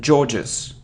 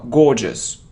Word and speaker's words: gorgeous: it's bullet bullet bullet it isn't George's George's now gorgeous gorgeous gorgeous it isn't coupon not